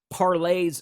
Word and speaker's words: Parler: thing you can you can if someone else parlays something i think parlors actually miss uh mispronunciation i think it's parlay uh it's a